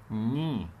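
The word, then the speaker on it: knee: الحاله اللي بعد كده ان اذا جه بعدها الان لا تنطق، اذا جه بعدها يبقى الكي، اذا جه بعدها الان لا تنطق خالص، فعشان كده هقول ني ركبه ني ني، ما اعتبرتش الكي موجوده، يبقى الكي لا تنطق لو جاء بعدها ان، تمام؟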